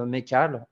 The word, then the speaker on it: Makhalleh: effectivement j'utilise le pseudo de mais cale sur internet on prononce pas le hb je suis tc cybersécurité